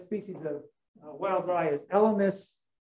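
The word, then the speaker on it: Elymus: of wild rye is elemus with a short eye short y met gregoria not metcor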